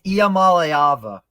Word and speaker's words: Iamaleava: Apparently, we've all been saying his name wrong. Apparently, it's Iamaleava. Crazy enough.